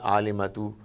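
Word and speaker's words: عالمة: When you read this word alimatu and it comes towards the very end of the sentence, you would not pronounce ta. Instead, it would become ha, alima.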